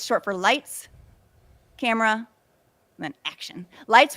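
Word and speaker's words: Leitz: His name is spelled light. It sounds lights. It's L E I TZ, but you say it lights.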